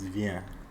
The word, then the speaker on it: vient: And for il et elle, it's vient. With a lot of silent letters.